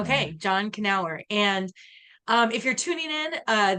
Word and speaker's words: Knauer: So we do pronounce the K. John Knauer. Okay, John Knauer.